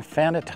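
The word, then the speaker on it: Fannette: And by the way, I'm mentioning Fanette Island. That's the way I'm pronouncing it, because that's the way I've heard locals pronounce it.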